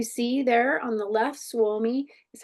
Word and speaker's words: Suomi: You see there on the left, Suomi is how you say Finland in Finnish.